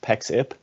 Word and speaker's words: Pexip: So in terms of Pexip, it's pronounced Pexip.